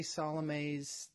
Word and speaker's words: Salome's: So I say Salome's, that's the way I pronounce that.